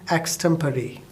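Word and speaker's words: extempore: that is known as extemporary the spelling is e x t e m p o r e but the pronunciation is extemporary can you tell me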